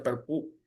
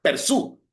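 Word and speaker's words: perçu: Percu, mi francés no es muy bueno, creo que así se pronuncia Percu. No, perdón, Persu. Ese es Persu, Tax Persu, que es porte pagado.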